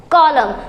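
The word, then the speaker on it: column: और वो है कि अगर स्पेलिंग में M के बाद N हो और स्पेलिंग खत्म हो तो वहाँ N साइलेंट रहेगा।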